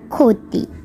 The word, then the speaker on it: ক্ষতি: যেমন খক ক আবার খিয় যদি শব্দের প্রথমে বসে সেক্ষেত্রে খিওর উচ্চারণ হবে খ এর মত। যেমন খ ক্ষতি আবার হয়ম দ্বারা গঠিত কিছু শব্দ হচ্ছে ব্রাহ্মণ